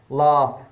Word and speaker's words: laugh: And sometimes G is pronounced as F where it is with H, like laugh, G-H, L-A-U-G-H, laugh, and draft, D-R-A-U-G-H-T.